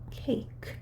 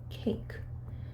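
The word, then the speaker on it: cake: 여러분이 자, 요 단어를 봤을 때 한국말로는 케이크예요. 네, 케이크. 세 단어죠. 하지만 영어에서는요. 발음 기호로 읽으면요. 케이크, 케이크. 모음이 한 번 들어갔어요. 케이크, 케이크. 그래서 이거는 이름절이라고 하죠.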